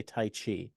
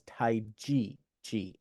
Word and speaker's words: Tai Chi: They usually say Tai Chi, but the actual pronunciation is Tai Chi, like the letter G.